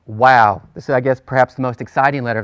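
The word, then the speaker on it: waw: lectures we prefer that W sound or the Wow form of the letter that's the traditional form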